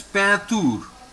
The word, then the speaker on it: peinture: T-U-R-E is tour. So it is peinture.